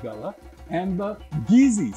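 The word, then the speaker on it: Kissi: like gullah and the geezy spell k-i-s-s but pronounced geezy sounds a lot like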